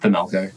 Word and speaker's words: Themelco: It's just Themelco.